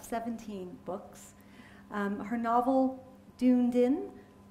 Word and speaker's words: Dunedin: books um her novel Dunedin is that how you say it denen denan I suddenly realized that was a Scottish word everyone gets it wrong for forgive my americanism